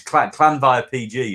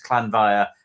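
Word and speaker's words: Llanfair PG: So it's one long phrase, but it's Clanvire PG if you ever look it up. But it's Clanvire, and it just keeps going and keeps going and keeps going.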